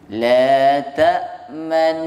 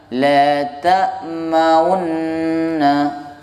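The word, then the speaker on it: تأمنّا: Jadi dibaca ismam itu harokat dhammah hanya ditunjukkan dengan gerakan bibir, bukan dengan bacaan, tapi dengan gerakan bibir saja. Tidak dibaca dhammahnya, cuman ditunjukkan bahwa ada dhammah di situ, tapi dihilangkan, digabung dengan nun yang terakhir. Ya, itu hanya dengan gerakan bibir. La ta'manna. Nah, bukan la ta'maunna. Bukan gitu cara bacanya.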